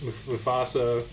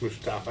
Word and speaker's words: Mustafa: guys and gals, Candace, Mufasa. I always say it wrong. It's Mustafa.